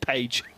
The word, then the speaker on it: Paige: interview with Sebastian Paige has asked Sebastian what his second name pronunciation is, and now we are sticking with Paige. Paige, it's easy for us to say. That's more English pronunciation, isn't it?